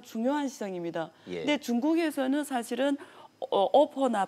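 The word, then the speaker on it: OPPO: 중국에도 계속 그냥 영어로 비보하고 오포라고 씁니다.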